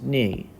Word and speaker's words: knee: A word that has the N sound, and just the N sound, is knee. It's spelled K-N-E-E, but we don't pronounce it knee. It's pronounced knee.